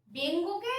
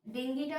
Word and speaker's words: ডেঙ্গি: তাছাড়া আছে আমরা ডেঙ্গুকে আর ডেঙ্গিটা হচ্ছে আরো বেশি স্মার্ট উচ্চারণ, ডেঙ্গি, ঠিক আছে, না উচ্চারণ কায়দা করে বলার জন্য না, উচ্চারণটাই ডেঙ্গি, ঠিক আছে, ডেঙ্গু না ডেঙ্গি।